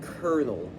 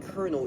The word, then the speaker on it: colonel: somewhat like that, and it gets simplified to the sound kernel, because English speakers are dumb. So they pronounce it kernel even though it doesn't make that sound.